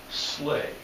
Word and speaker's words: sleigh: he's pronouncing it wrong okay but it is pronounced Sledge that's an English word okay we think of it as slay a slave spell s-l-e-i-g-h so sometimes again that's